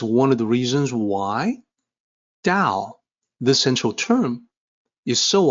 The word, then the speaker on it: 道: and credentials it's one of the reasons why da the central term is so often mispronounced with a t sound ta mispronounced not just by westerners but also by